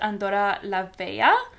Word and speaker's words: Andorra la Vella: I believe it's pronounced Andorra la Vella, but I'm not 100% sure.